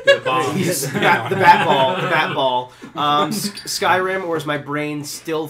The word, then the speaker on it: Skyrim: Skyrim, or as my brain still thinks it should be pronounced, Scrim.